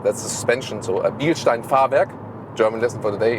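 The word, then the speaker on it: Fahrwerk: in german it's like i always always say farvak that's suspension so bielstein farvek german lesson for today it's the bielstein suspension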